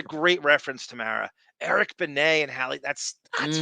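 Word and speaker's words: Benét: Eric, you remember Howard was obsessed with Eric called him Eric Beay. Like it was like he mis deliberately mispronounced his name and they used to Oh, that's a great reference to Mara. Eric Benet and Hi.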